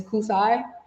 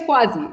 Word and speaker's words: Kuasi: But my name is Quasi, like Kuasi. Like, at least say it right when you're addressing me.